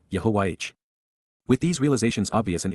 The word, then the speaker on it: Yahowah: The four letters wh are all vowels and are pronounced consistent with the verb which God told Moses defines his name in his tow. That is all we need to know to say Yahwh.